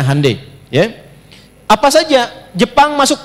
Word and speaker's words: Hyundai: Ya Hyundai saya tahu bahasanya dibacanya Hyundai.